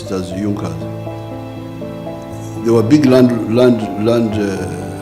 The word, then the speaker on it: Junkers: It is written Junas but they pronounce it as Junkas.